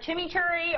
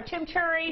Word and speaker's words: chimichurri: No, I've heard it both ways. I've heard chimichurri or chimichurri.